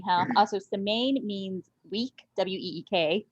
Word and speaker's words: Semaine: don't pronounce it correctly we pronounce it in a better american way and we we do